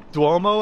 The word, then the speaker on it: Duomo: Duomo, I believe is the pronunciation.